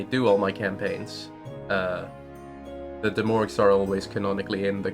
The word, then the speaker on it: De'Mourges: Is your D&D campaign just a bunch of Demorgs?